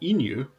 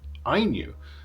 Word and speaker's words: INIU: so you'll notice that I have changed my pronunciation of the brand name it's not Inu uh as I was saying earlier in the video uh the people at Inu have told me that it's pronounced IU so who knew I knew anyway I knew